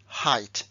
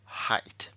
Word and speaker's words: height: se pronuncia I Hi Aquí tengo una e y una I y sin embargo también pronuncio igual height vale Y aquí sí